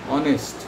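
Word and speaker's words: honest: অনেস্ট, এখানেও এইচ আছে silent চলে যায়, অনেস্টি।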